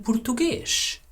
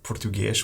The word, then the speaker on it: português: Like it’s a ‘u’.